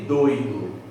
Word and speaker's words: doido: A diferença entre doido e doído é um acento. Percebeu o homônimo? Doido, doído. É a mesma palavra na escrita, a sílaba tônica é diferente, o significado é diferente,